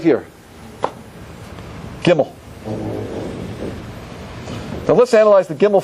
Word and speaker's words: Gimel: Is that good, Gimel? Yeah, that's great. Gimel. Gimel, if we spell it out, means what?